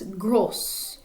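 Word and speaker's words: grosse: little bit different so if we're referring to a male we would say grow but to female it's gross timid extraverte mead stays the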